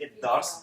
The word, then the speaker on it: الدرس: And by the way, il and the da join together, so you say الدرس.